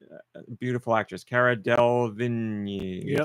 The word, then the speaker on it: Delevingne: Beautiful actress, Cara Delevingne. Yep. Delevingne.